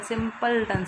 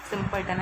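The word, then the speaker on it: simpleton: ये सिंपलटन है, इसको हम पता प्रोनाउंसिएट कैसे करते हैं? सिंपलटन से करते हैं, मतलब SIMPUL वाला पल, सिंपलटन ऐसे बोलते हैं, ठीक है।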